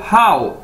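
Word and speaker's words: 好: है, ये है HAO, हाउ। इसको कैसे बोलना है आपने, हाउ। जैसे इंग्लिश का वर्ड है हाउ, कैसे, तो इस तरह ही आपने इसको बोलना है हाउ।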